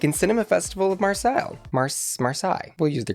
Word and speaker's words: Marseille: Marseille. We'll use the correct pronunciation there.